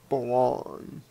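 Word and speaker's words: Blanc: Loli, play on we, is run by Blonde, although it's spelled Block, but they pronounce it Blonde.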